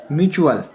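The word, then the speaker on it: mutual: म्यूचुअल, देखिए म्यूचुअल, टी यहाँ पर साइलेंट है। क्या है यहाँ पर? टी साइलेंट है, इसका उच्चारण क्या बना है? चा बना है।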